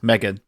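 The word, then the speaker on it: M3GAN: Megan. No, Megan. He's written it phonetically here.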